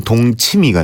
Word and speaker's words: 동치미: 그래서 동침 되는데 이걸 이제 일반에서 발음할 때는 동치미가 되고 동치미가 동치미로 바뀌는 거. 그러니까 발음은 동치미인데 표기는 동침이 네. 이렇게 되어 있습니다.